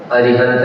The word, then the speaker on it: अरिहंत: ओ आ कहा तो पूरा मुंह खुल गया, दीर्घ हो गया, व्याकरण की दृष्टि से अशुद्ध हो गया, इसलिए शुद्ध उच्चारण करना है अरिहंत का अ।